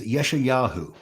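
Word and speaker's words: ישעיהו: In Hebrew, he is Yeshayahu, which basically means Yahweh is salvation.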